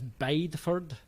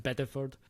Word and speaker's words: Bideford: the county seat of a town which he pronounces as bideford it's named after the english town which by the way is pronounced biddeford where they had one of the last witch